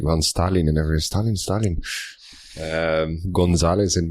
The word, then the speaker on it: Staalen: I'm here today with Paul van Staalen.